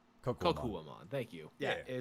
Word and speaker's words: Kokuwamon: Yeah, I'll go with Kokokomon or however you pronounce that. Kokuwa. Kokuwamon.